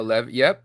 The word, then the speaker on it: Levy: trades that Sean Le Levy how do you pronounce that one Levi Levy no Lev yep Sean Levy yep you know him he's uh